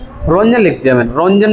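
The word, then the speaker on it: Roentgen: कोई रोंजन याद करे हैं। यही स्पेलिंग है आर ओ इ एन टी जी इ एन यह स्पेलिंग है याद करो रोटजन रोंजन रोंजन लिख दिया मैंने रोंजन ने आविष्कार किया था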